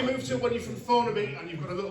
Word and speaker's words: Thornaby: I'm from Thornaby. A couple of cheers, that'll do. I'm from the posh end of Thornaby though, because I pronounce the TH.